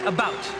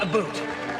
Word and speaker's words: about: I speak English and French, not American, and I pronounce it about, not a boot.